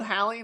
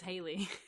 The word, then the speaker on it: Halley: So it's just one and it's Halley. It is Halley. So we're just stupid. Wait, hang on. When your name is Halley and it gets mispronounced as Haley for 50 years.